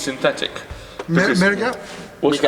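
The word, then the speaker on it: Mriga: Miriga? What's it called? Miga. Yeah. How do I spell it?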